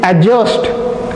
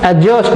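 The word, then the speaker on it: adjust: डी के बीच का, ए और जे के बीच का जो डी है वो साइलेंट हो रहा है। आप लोग बोलोगे, एक वर्ड अगर देखा जाए, अगर आप इसको प्रोनाउंस करोगे तो क्या बोलोगे, this is एडजस्ट, एडजस्ट नॉट एडजस्ट, okay.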